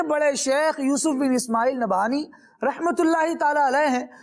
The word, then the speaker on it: نبہانی: اصل تلفظ کیا ہے؟ نبہانی. ہاں جی نبہانی.